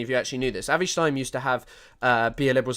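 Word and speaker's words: Avi Shlaim: I'm absolutely sure it's pronounced Avi Schleim.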